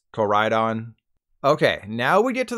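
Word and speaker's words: Koraidon: Deez Nuts Joe jokes if you're worried about corydon's pronunciation don't be it's Corydon okay now we get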